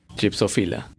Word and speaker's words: Gypsophila: Gypsophila. Phila or philia? Phila. How do you say it? It's like Chickafila.